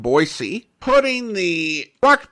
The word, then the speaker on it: Boise: city where we have pronunciation arguments with those who want to call it boisey rather than boyy putting the corre pronunciation